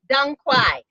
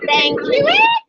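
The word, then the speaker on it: 当归: Chewy, but it's pronounced Dung Kwai. Oh, okay. Okay. But in Texas, they call it Tang Chewy.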